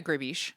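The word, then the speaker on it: gribiche: like a relative of is it called sas griiche? Oh yeah, grabish. Gish. Okay. French. Yeah. My nemesis. Pronounce any of the letters.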